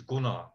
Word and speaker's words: Gunnar: well first of all my name is gunnar i'm getting better hey listen americans cannot pronounce a short you i i recognize that so you're going to say goona or whatever it's cool in fact in fact